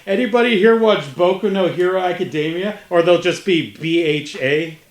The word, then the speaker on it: Boku no Hero Academia: my hero academia baby boku no hero academia is that how it's pronounced yeah yeah now you